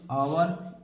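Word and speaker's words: hour: ओ के पहले एच तो हमें एच को नहीं पढ़ना है अबकी बार एच को नहीं पढ़ना है तो इसे क्या पढ़ेंगे केवल इतना कहा पढ़ेंगे अंग्रेजी देखिए ऑनर ऑनेस्ट आवर इको तो इसे क्या पढ़ेंगे ऑनर पढ़ेंगे इसे क्या पढ़ेंगे ऑनेस्ट पढ़ेंगे इसे क्या पढ़ेंगे आवर पढ़ेंगे इसे क्या पढ़ेंगे इको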